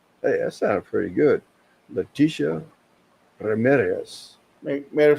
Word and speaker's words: Leticia: Leticia Ramirez. Hey, that sounded pretty good. Leticia Ramirez.